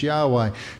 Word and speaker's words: Yahweh: What we now believe is that the pronunciation was Yahweh.